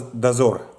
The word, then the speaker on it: Dozor: And it's pronounced as Dozor.